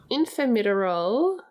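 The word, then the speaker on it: Infermiterol: Yes, so Infirmitorol, I think that's how you say it. It's a made-up drug, so we don't know how to say it. It is how you say it because I listened to the audiobook.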